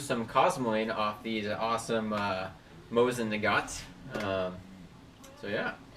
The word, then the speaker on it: Mosin Nagant: We're doing the, hey, what's the correct pronunciation for this, Keith? Mosin Nagant.